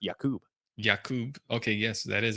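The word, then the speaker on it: Jakob: submitting that, but uh yeah, this guy is Jacob with a K. I don't know if you want me to. Let me scroll. Actually pronounced Yakub.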